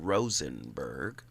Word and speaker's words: Rosenberg: He would pronounce his last name Rosenberg. Love his work, but I say Ross Rosenberg because I used to rap. I just like the flow of it.